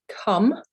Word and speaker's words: come: So don't forget, we pronounce all the letters in Spanish. So even though it looks like the English word come, it's not pronounced that way, so come.